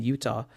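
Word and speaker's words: Eutaw: He was a 65-year-old Black man who lives in Utah. I hope I pronounced that right.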